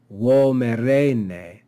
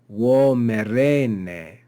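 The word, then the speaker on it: vomerne: But because we've added this enclitic, we add an accent on the last syllable, vomerene, vomerene.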